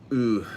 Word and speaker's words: Oud: And Ooh. Okay, so Richard is saying that it's pronounced like ooh. It's pronounced ooh.